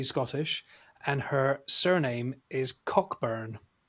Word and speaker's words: Cockburn: But they pronounce it Coburn.